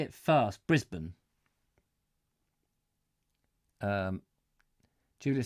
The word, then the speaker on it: Brisbane: in the day Richard it's not as bane we say Brisbane Brisbane Americans say Brisbane alright ok Brisbane Brisbane